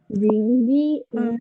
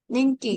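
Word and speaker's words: 人気: Kayak tadi ya, Jing kan bukan, itu bukan yang benar itu yang Ning. Ningki.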